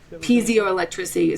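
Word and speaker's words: piezoelectricity: Pio electricity.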